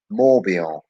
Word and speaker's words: Morbihan: So this one is in uh, a department called Morbihan. That's how you pronounce it, but it's not.